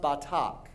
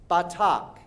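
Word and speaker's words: בטח: Now, the verb to trust in Hebrew is pronounced batak. Now, I will say it first, and then you repeat after me. Batak.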